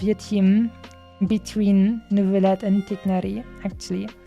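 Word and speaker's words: Tighnari: And what's the rest of your team between Neuvillette and Tigneri, actually? Or Tainari, as they wanted them to pronounce it for some reason.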